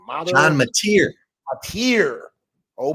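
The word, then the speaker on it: Mateer: from Washington State quarterback John mozer how you pronounce his name John Mater Mater oh M John M yeah he's supposed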